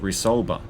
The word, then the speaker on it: Resolver: heavily touted Resolver weapons, which is actually pronounced Resolver, uniquely designed offensive wares